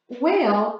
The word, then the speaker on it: whale: are identifying grammatical errors, whale is misspelled. Through understanding the concept that often when a word starts with a W, the H is silent following the W.